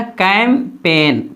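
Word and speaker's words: campaign: इस तरह यहाँ भी एन से पहले जी है तो इसे जी को नहीं पढ़ेंगे, क्या हो जाएगा कैम्पेन, पेग्न नहीं पढ़ेंगे, पेग्न, कैम्पेन, जी नहीं पढ़ा जाएगा।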